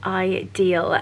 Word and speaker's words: Idyl: So the brand is pronounced Idyl, and they specialize in the most beautiful diamonds, but an affordable price point.